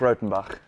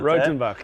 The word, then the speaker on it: Rautenbach: Perfect pronunciation. Got it right. Rautenbach, you did it. I was nervous about that because we spoke on the history of it and there was 5 different options.